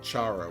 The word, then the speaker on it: Sharon: Meet the Queens that she pronounces her name Sharone? Everyone calls her Sharon, and she said she doesn't mind. She can even be called Charo, and she doesn't mind.